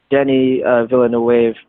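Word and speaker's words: Denis Villeneuve: I'm really happy that I learned how to pronounce it Denny Villanueva how is he like merging the mainstream and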